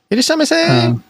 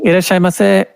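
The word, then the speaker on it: いらっしゃいませ: Irashimasu. There you go. yeah. Irashaimase.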